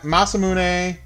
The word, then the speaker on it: Masamune: Ma Masamune is definitely the correct pronation.